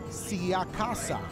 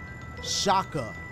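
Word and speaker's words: Sciacca: Siakasa says, Dashie. You butchered me, my last name, and you said Siaka. It's pronounced Shaka.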